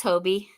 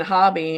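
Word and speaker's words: Hobbii: Yeah, that it's Hobie. Yeah, well, I was saying hobby.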